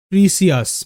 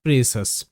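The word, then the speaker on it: precious: ডিলিসাস ডিলিসাস মানে সুস্বাধু এটাকেও অনেকে ভুল করে বলে প্রিসিয়াস মানে মূল্যবান অলমোস্ট প্রত্যেকেই ভুল করে এটা যারা নতুন শিখছে প্রিসিয়াস বাট প্রিসিয়াস নয় এটা প্রেসাস পি আরই pray pray C আই ও ইউ এস সাস প্রেসাস মানে মূল্যবান প্রেসাস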